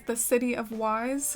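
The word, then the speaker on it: Ys: for the beach area is the City of Wise, or Is is how you pronounce it, but I grew up kind of pronouncing it like Wise, but if you Google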